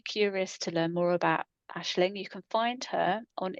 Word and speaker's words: Aisling: yeah, So Ashling. on Facebook, it's Ashling Moore, and that's actually spelt not Harriet, not phonetically. What So you? so your name is spelt like AIS Yeah, L. So it's AISLING.